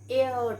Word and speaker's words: heir: then he is an heir to the throne he is and so at inside we pronounce it as air air means goddess okay so he is an heir to the throne so